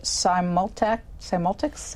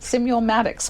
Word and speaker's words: Simulmatics: impact voter behavior, and we learn about the Simultics? How do you say it? Simulmatics Corporation, thank you, and the calculating machine that they use.